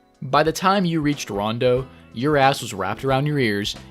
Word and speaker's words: Ronde: first glance you're like okay wronged but then below that it's Gotta clarify no dumbass actually pronounce that e as an O and then in Japanese it says rinbukyoku Rondo why not just spell